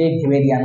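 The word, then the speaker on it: Weberian: বায়ুথলি আরো একটা জিনিসের সাথে কানেক্টেড, দেখো এই যে এই জিনিসটার নাম হলো ওয়েবেরিয়ান ওসিকল। ওই ফিরে ফিরে ওসিকল মানে অস্থি, মানে ওয়েবেরিয়ানকে ভেবেরিয়ান উচ্চারণ হয়, ওয়ে উচ্চারণ করতে যে ভে হয়ে যায়।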